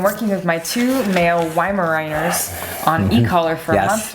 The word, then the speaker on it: Weimaraner: says I've been working with my two male wi Mariners on e-collar for a month now and they're doing great I actually pronounced the name right yeah viners viners they